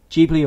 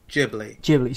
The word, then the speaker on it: Ghibli: that i think it's i looked up this because i used to say it wrong all the time and i think yeah the right way is ghibli studio ghibli um basically